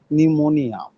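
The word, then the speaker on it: pneumonia: এটা যদিও প্রথমে পি অক্ষর আছে কিন্তু এই পি উচ্চারণ হয় না। এটা মূলত নিউমোনিয়া।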